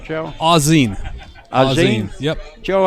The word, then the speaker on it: Auzenne: good shot there by Joe Judi am i pronouncing that right Joe Ozzie Ozzie yep Joe a gene well I was close ray missed that kick